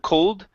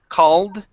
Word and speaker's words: called: Okay, right here, instead of cold, called. Called.